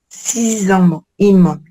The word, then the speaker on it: six immeubles: ah oui la th Et ici on va faire la liaison aussi. Six immeubl six immeubles.